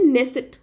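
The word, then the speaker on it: Knesset: को बोलते क्या है इजराइल की पार्लियामेंट को बोलते हैं नेसट नेसट की स्पेलिंग क्या है नेसट की स्पेलिंग के से है ठीक है के एनई एस एस करक ठीक है नेसेट है इन्होंने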